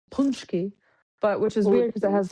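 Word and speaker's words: pączki: Tuesday that's why we make punchki it's actually pronounced punchki punchki but which is weird because it has the it has the A but whatever.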